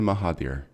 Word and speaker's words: Mahathir: i pronounced that right as well is it maha theor haha maha theor I'm sorry I'd cut out just like hi there mahaveer great marina Mahathir excellent oh thank you first of all for